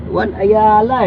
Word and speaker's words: Ayala: kaakit dala ka Ayala Ano ba talagang tamang bigkas niyan be Ayala hindi y Ayala so y Alam niyo na